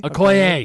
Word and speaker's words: Okoye: No, but the the fight scene between Proxima Midnight, Black Widow, and why can I not pronounce her name? Proxima. Okoye? Okoye.